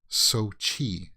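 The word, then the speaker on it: Xochitl: then chi chi like sochi you see that there's a ch there it looks like it would be so chill so chill gomez but it's not uh let me see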